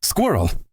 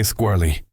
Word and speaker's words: squirrel: Oh my gosh, squirrel. I still struggle. In Portuguese, we say eskilo, so my brain wants to say squirly.